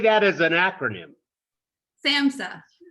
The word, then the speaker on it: SAMHSA: SAMHSA. SAMHSA. Yeah. Okay. H is silent, right? Yeah, just pretend it isn't there.